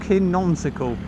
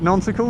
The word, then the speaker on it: nonsensical: is nonsickle that's not the right way to say that word is it nonsensical nonsensical nonsickle sounds like